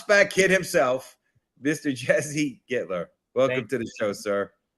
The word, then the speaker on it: Gittler: Jesse Gittler, right?